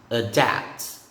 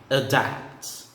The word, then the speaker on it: adapt: It's a lowercase a with virgules, and it's pronounced a. Hence the pronunciation adapt, adapt.